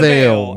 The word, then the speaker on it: Veil: What about I always mispronounce this because I'm stupid. Pierce the Veil. I always say veal for some reason because I'm illiterate.